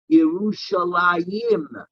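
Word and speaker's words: ירושלים: but how do we reply how do we pronounce it yerushalayim because we say that there are two jerusalems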